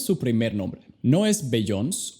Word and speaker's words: Beyoncé: No es Beyoncé o Beyoncé. El apóstrofe hace toda la diferencia. La enfatización se mueve al final. Si no hubiera un apóstrofe, sería como Beyoncé.